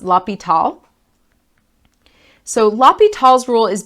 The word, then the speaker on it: L'Hospital: la PETA's rule so it looks like it says hospital but it's actually pronounced la pital so la PETA's rule